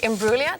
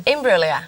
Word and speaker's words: Imbruglia: is Natalie Imbruglia. Did I say it right then? Yeah, you did. Well done. Imbruglia. Imbruglia, yeah.